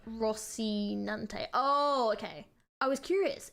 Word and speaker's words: Rocinante: I pronounce the horse's name Rocinante.